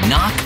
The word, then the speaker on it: knock: first letter in kite and a silent k is also the first letter in knock over if you don't